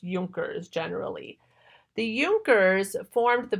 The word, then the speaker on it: Junker: idea of the euchre's it looks like Junkers but it's pronounced yonkers generally the euchre's formed